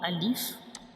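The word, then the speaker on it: ا: So now let me show you the origin of alif. So this is the origin of alif. This is the inner view of mouth. So alif is pronounced from the empty space of mouth.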